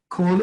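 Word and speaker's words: כל: be translated sometimes as, can be pronounced rather as an O. In this case, that's what it is, ovdan. Great example of that is the word for all or everything, kol. Kol is spelled with one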